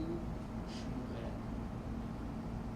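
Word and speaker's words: וּשְׁמוּאֵל: It will be u shmuel or u shmuel.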